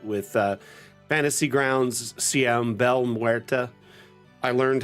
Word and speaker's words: Belle Muerte: uh Fantasy Grounds CM Belle Muerta. I learned how to pronounce her name correctly today. It's not Bella, which my Italian heritage has a hard time not seeing something spelled like that pronounced Bella.